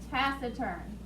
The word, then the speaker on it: taciturn: word is the word taciturn taciturn t-a-c-i-t-u-r-n pass the turn not pac-it-turn but cast it turn that's a soft c sound i t-a-c-i-t u